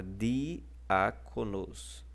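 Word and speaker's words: διάκονος: Vocês podem reparar que o alfa está levando o acento agudo, e o alfa é a antepenúltima sílaba, porque a última é a sílaba nos, a penúltima é co, e a antepenúltima é o al, que é mostrado aí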